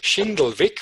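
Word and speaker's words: Schindlwick: in my last name which is which is shindle Vic which is a bit hard to pronounce but I will spell it for you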